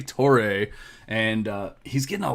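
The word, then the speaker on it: Toure: gonna go ahead and take samori tor tori i don't know exactly how to say his last name i probably can you go ahead and fix that for me levi torre torre okay thank you so mori toray and uh he's getting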